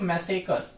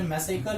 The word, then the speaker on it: massacre: यहीं से निकल कर आता है एक मैसेकर, ठीक है। आपने मैसेकर भी सुना होगा, मैसेकरे मत पढ़िएगा इसे, ठीक है। मैसेकर स्पेलिंग याद रखिएगा, MASSACRE, मैसेकर, MASSACRE, मैसेकर, ठीक है।